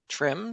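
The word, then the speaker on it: TRMM: missions including messenger New Horizons and is it pronounced trim trim that's right okay tropical rainfall measuring Mission very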